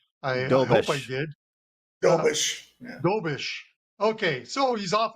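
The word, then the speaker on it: Dobeš: Jakob Dobes. Did I pronounce that correct? I hope I did. Dobish.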